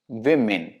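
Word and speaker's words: women: विमेन, विमेन इज the correct pronunciation of this word.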